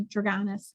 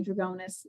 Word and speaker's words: Drugonis: But, yeah, I say Drugonis because that's how I was taught to say it. But my mother-in-law will always say Drugonis.